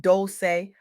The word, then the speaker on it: Dolce: I'm your host, Dolce, pronounced doulce like sweet softness whispered in French.